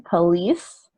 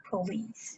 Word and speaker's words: police: I think this has to do with like word stress too. Maybe you don't know which syllable is stressed in English. Yeah, If you know, you want to stress the final one, police police. instead of police.